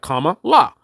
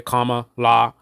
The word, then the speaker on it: Kamala: not that it's complicated right in itself right comma law right but again that's a very simplistic surface level thing where I now thinking about it having a discussion about it and I'm thinking okay comma law right but in terms of what pops out